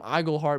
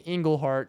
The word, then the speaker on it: Iglehart: And so I'm telling him Iglehart, but he's reading Englehart.